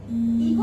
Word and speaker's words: echo: इको, इको मैंने यहाँ लिखा है, इको मीन्स गूंज। इसको ईचो भी पढ़ेंगे, इसको हम प्रोनाउंस करेंगे इको।